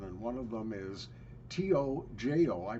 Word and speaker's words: Tojo: made for children and one of them is t-o-j-o I pronounce is pronounced Tojo and that's a good